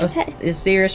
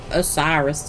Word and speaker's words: Osiris: zodiac now is Osiris I think oseris or you can say o Osiris too it doesn't I it depends on how you want to pronounce it depends on how you